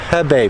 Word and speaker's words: Hebei: I think there's 36 million people in China right now locked down up in Hebei province.